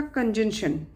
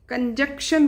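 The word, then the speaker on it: conjunction: Next है आपका कंजंक्शन। कंजक्शन बोलते हैं बच्चे, नहीं, राइट प्रोनाउंसिएशन इसका कंजंक्शन है।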